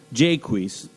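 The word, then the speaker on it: Jaques: In Shakespeare's as you like it, melancholy jaquis, that's I always pronounce that name like I guess it looks like Jacques, but there's no well there's no U. Jquis, that's how Dr. Senior pronounced it.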